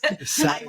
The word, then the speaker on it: Sadeghy: Sadeghy. It's okay. It's a tough one. I had it down right. And then he was like, oh, that's how you pronounce it. So here we go. So Michelle Sadeghy is the director of energy tax credits and